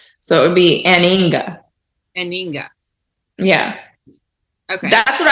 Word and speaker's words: anhinga: So the correct pronunciation would be not to pronounce the H. So it would be aninga.